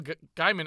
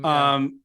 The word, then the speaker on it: Gaiman: I think it's pronounced sorry, Gaiman. Gaiman.